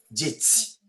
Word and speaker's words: geți: Poporul erau geți, nu Geți. geti. Géti. Mhm. Géti. J'essaie de prononcer en français, puisque je suis en train de parler en français, j'essaie de prononcer en français. Géti. Passer le I, quand le T est suivi du I, il prend toujours le cédile.